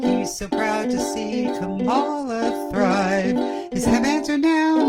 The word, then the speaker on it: Kamala: I glanced out of my lyrics, and it's Kamala, not Kamala, and I know better, and I even made fun of people who mispronounce it, so you can all make fun of me.